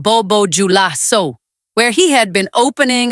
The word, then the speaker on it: Bobo Dioulasso: And the president of the Alliance of Sahel States, Ibrahim Traoré, was watching from Bobo Dioulasso, pronounced Bobo Dioulasso, where he had been opening a national cultural festival when the first explosion hit.